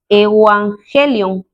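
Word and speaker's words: εὐαγγέλιον: Entonces, en lo que respecta el idioma original griego, esta palabra evangelio, que nosotros lo pronunciamos como evangelio en español, en griego es la palabra evangelion.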